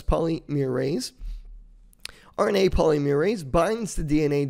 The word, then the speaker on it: polymerase: Now, transcription requires an enzyme called RNA polymerase, and that's how you pronounce that. It's polymerase.